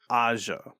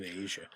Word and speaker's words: Asia: How'd you say her name? Aja. Okay. I think I said Asia. Well, Asia Argento. Yeah. Like, I understand why you would, because, it's how it's spelled.